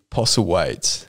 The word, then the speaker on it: Postlethwaite: That TH in the last name. Yeah. No, very confusing. Silent. So silent.